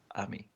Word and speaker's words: AMI: It's pronounced Ami.